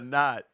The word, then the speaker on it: knot: that a not that a knot is spelled with a a silent Okay.